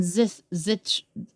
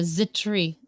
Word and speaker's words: Zithri: Uziel, Mishael, Elzaphan, and Zithri. I don't think you pronounce it as a TH sound. It's more of a Zitri.